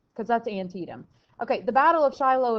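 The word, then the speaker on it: Antietam: bloody day at antium that's right antium that's how you say it not anti-ed antium it's in Maryland remember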